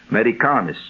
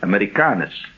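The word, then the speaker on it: Amerikanis: That's with a K, so that's why it's pronounced that way. for seven days. Americas. Americanis. That's it. Americanis.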